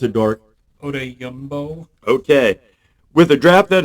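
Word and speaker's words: Odeyingbo: How do you pronounce it, Dork? Odeyumbo.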